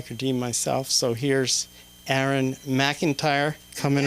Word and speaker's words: Aeron: my name is Aaron it's not Aaron not Aaron it's Aaron it's AE r o n so it's like Aeronautics so remember that because Aaron